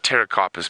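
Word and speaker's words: Pterocarpus: the round Leaf te it's a Terra carpus well it's actually Terra carpus but it's spelled PT Terra carpus rund Folia so rund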